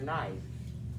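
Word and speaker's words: Hnæf: But anyway, they're having a wedding party, and for some reason, Finn kills her brother Knife. That's how I'm pronouncing it.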